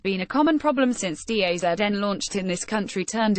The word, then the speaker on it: DAZN: The National Post, a Canadian outlet, reported widespread difficulties with the NFL's new streaming service in Canada called DAZN, pronounced DAZN.